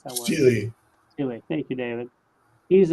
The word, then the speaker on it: stele: How do you pronounce that word? Steely.